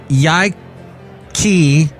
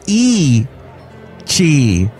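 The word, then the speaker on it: Yi qi: long ago before the birds the dinosaur named Yik key meaning strange wing and Mandarin and pronounced oh it's pronounced e she lived about 160 million years during the Jurassic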